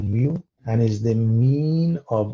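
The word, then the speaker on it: μ: letters so in this case we use mu mu is pronounced mu mu and is the mean of all values in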